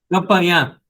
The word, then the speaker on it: Campanhã: Campanhã. Campanhã. Tem um tio no finalzinho, na última letra A.